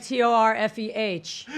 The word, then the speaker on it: Torfeh: Hashtag TORFEH. Pronounced Fey, not Pho.